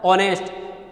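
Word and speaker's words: honest: अब ऑनेस्ट में भी ओ का साउंड आ रहा है, ऑनेस्ट, इसलिए इसके अंदर भी एन आर्टिकल का यूज होगा।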